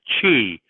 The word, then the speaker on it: Qi: Now these things they call that Qi because it's too hard to pronounce what you would call the Q. Okay. So it's pronounced Qi like CHI.